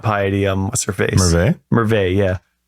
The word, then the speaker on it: Merveille: Merveille. Yeah. That's how we say it, because we're used to having French in the country with the EIL at the end. You don't actually pronounce it. I don't know how other people pronounce it.